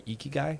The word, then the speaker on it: ikigai: That is, there's a great, kind of process you can go through called the Ikigai.